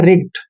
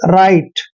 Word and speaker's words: right: RIGHT इसको पढ़ते हैं रिग्ट, FIGHT इसको पढ़ते हैं फिग्ट, जो कि गलत है। इनका उच्चारण ऐसे नहीं करना है। आर को हमने रे पढ़ना है और आई को आई पढ़ना है। और यहाँ पर देखिए आप इस तरीके से भी आप रीड कर सकते हो, आर को रे पढ़ सकते हो और IGHT का उच्चारण आइट कर सकते हो, आइट ऐसे, राइट।